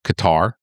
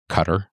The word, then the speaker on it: Qatar: course, Kuwait, we had Qatar. Cutter, whatever your preferred pronunciation is.